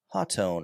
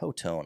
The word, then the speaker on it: Hotone: Another somewhat affordable brand, Hotone or Hotone. I never know how to say their name. I've heard people say it Hotone, but I think it's Hotone.